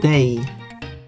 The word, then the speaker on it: dig: Day. Day. Yeah, I can spell it like that.